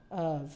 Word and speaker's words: of: vine we have seven and we have Earth of you see there's a difference between the this and this the offf is pronounced as off that says F but the